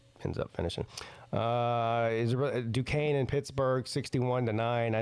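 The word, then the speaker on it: Duquesne: team that spells their name without a C or a K and is pronounced Dukane.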